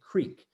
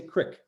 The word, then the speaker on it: creek: This is how I would say it, creek. But I've lived in parts of the United States where you say crick, right?